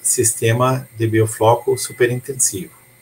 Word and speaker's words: biofloc: Às vezes falo biofloco, como se fala em português, pero biofloc em espanhol.